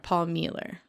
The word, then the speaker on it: Mueller: because his name is his last name is actually German so it's pronounced like Miller okay okay Paul Mueller but it's spelled Mueller